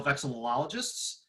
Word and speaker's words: vexillologists: I am a member of the North American Vexillological Association, of which you are all now vexillologists. And yes, it's weird to pronounce, but there's two L noises in there.